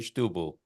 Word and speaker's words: Setúbal: So you say it Setúbal and you pronounce it Stubal.